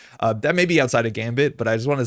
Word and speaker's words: Gambit: I think Gambit is pronounced almost the same in French. Gambit, Gambit, but there's no way that Galehar you say Gambit. like that's nonsense. The French do not say the T at the end.